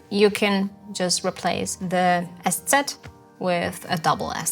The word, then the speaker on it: ß: spicy s number one you pronounce it just like an s number two you never